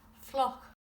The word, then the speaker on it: fliuch: The word for wet is flock.